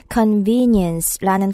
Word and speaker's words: convenience: convenience라는 단어가 길어서 좀 발음하기가 어렵죠. 소리를 끊어서 한번 보시면요. convenience 이렇게 네 개의 소리로 나눌 수 있어요.